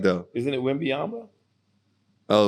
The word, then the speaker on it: Wembanyama: Victor Wembanyama, French cat.